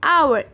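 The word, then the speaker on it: hour: For example an आवर एक घंटा। अब आर भी एच से स्टार्ट हो रहा है, राइट, पर यहाँ पे एच क्योंकि साइलेंट है इसलिए हम एन का प्रयोग करेंगे।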